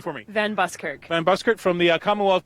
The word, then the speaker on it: Van Buskirk: excited i met a celebrity here okay kate pronounced your last name for me van buskirk van buskirt from the commonwealth games and you